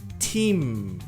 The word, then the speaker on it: team: Então, equipe, time, team. Som longo de I e pronuncia o M no final.